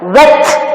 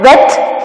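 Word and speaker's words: whet: Wet. Wet, H is silent.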